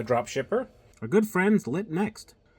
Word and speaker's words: LitNxt: shipper we're good friends lit next that's spelled lit NXT and so they sent us